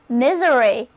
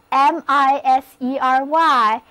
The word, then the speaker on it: misery: 系，单词 misery， M-I-S-E-R-Y， misery，字母 S 发 z 的音，read after me 就是 misery。